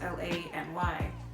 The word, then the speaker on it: LANY: said in an interview they tried to pull a dnce where their name was supposed to pronounce LA and why but with time a confusion their name end up being lady now that we know